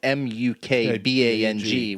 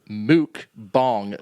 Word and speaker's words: mukbang: no clue it's prone it's spelled m-u-k-b-a-n-g which would be mukbang yeah but it's pronounced mooc bong m-o-o-k-b-o-n-g so what is it